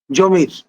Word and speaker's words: জমর: অন্যতম মহানায়ক চট্টগ্রামের সন্তান জমির যিনি প্যারিসে গিয়ে থিত হয়েছেন জমর হিসেবে ফরাসি উচ্চারণে এবং আপনার ভারসাই প্যালেসে তিনি বেড়ে উঠেছেন।